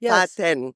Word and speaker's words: Fatenn: So to start with, the pronunciation of the name always bothered me, to be honest. Of course. It's Fatenn. Yes, and that's why there is a double N in my name, by the way.